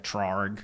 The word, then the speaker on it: Traurig: Traurig. Yep. See, I don't hire those guys, so I don't know how to pronounce it.